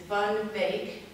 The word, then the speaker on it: Van Beek: you, being an American, you would say it's Charles van Dyck. It is Van Beek, and we practiced at our church how to say it correctly.